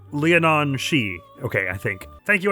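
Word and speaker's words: Leanan Sidhe: Roughly pronounced Leonon She.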